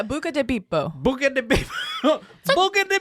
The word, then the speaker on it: Buca di Beppo: That is not how you say it. It's Italian. Yeah, Buca di Beppo.